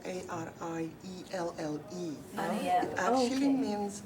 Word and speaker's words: Arielle: My name is spelled Arielle.